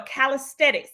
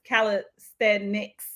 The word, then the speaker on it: calisthenics: research this as well calisthetics this is a form of exercise actually it's not you pronounce this calisthenics I always say it wrong but it's a form